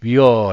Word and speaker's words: weir: " 위어 " 라고 발음 합니다 .